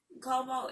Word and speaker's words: Cuomo: Cuomo, and that's how you say his name, Cuomo in New York.